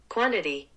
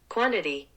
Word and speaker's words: quantity: 아까 제가 여기 보시면 이번에 quantity는 flap t가 두 개나 들어 있습니다.